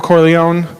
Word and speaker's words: Corleone: is is uh Michael Corleone right he's he's the the boss guy right and the Corleone family I hope I'm pronouncing that right does anybody Italian did I do it corleon okay great excellent um the Corleone family